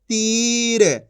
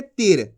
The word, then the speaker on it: तीर: र, तो मिलके बन जाएगा तीर। ऐसे नहीं पढ़ेंगे तीर, कैसे पढ़ेंगे? खींच के पढ़ेंगे तीर।